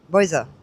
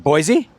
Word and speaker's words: Boise: Boa. I don't know how you pronounce it. Boise.